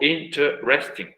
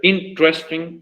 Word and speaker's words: interesting: Puede ser 3 para algunos, para otros puede ser 4. Interesting o interesting. Pueden ser 3 o 4, según como tú lo pronuncias. Puede ser interesting o interesting. Cualquiera de esos dos está bien.